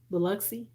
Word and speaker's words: Biloxi: and you in biloxi okay is it biloxi biloxi is that how you say it yeah i